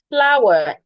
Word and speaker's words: flour: Flour, F-L-O-U-R and F-L-O-U-W, they are pronounced the same way.